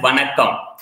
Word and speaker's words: Vanakkam: And that's a greeting in Tamil that says Vanakkam. Okay, so I wanted you to do that for the people who are joining now, also will be watching on live. So this, you can pronounce it as Vanakkam.